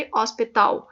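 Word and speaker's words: hospital: جیسے ہاسپٹل ہے تو ہاسپٹل کو پرتگیز میں کہیں گے ہاسپتاؤ. ایل میں نے بتایا تھا کہ اسپیلنگ ہاسپٹل والے ہی ہیں جو انگلش میں ہاسپٹل کی اسپیلنگ ہے, اسپیلنگس وہی ہیں, لیکن ایل جو ہے وہ او ہو جاتا ہے اور ایچ جو ہے وہ سائلنٹ ہوتا ہے تو ہاسپتاؤ.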